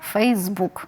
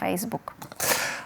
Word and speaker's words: Facebook: на останній склад Facebook Ну напевно через те що Facebook перш за все бук так Тобто ми вибрали головне слово між цих двох кореняв тому правильно говорити мережа Facebook а не Facebook А ще у нас